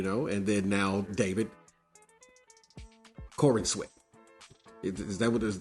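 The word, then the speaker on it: Corenswet: you're Superman, you know, and then now David Corin sweat. Is is that what is that? Is that how we uh pronounced it? Because I probably just Corin. Corinwat. Yeah, there you go. Corinwat.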